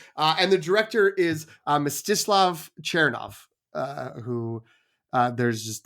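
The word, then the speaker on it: Mstyslav Chernov: there so uh that but that's misof chov is my understanding of how you should pronounce it based on likely AI generated Google uh YouTube videos of how to pronounce it but uh yeah I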